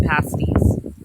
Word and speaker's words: pasty: It's spelled pasty, but they call them pasties.